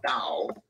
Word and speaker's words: Tao: So in the end, it's pronounced Dao and actually written Tao with a T.